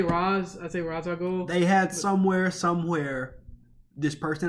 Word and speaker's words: Ra's al Ghul: The images are, in some people's opinion, a reference to the Court of Owls and Ra's al Ghul.